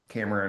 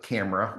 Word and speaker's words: Cameron: I got growing up, camera was a big one a lot. camera. Yeah, and Gotcha. Cameroon. My mom actually still calls me Cameroon sometimes. It's kind of like Oh.